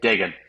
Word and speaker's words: Dagan: but I figured I used to have to like tell people like Megan with a D because like Yeah.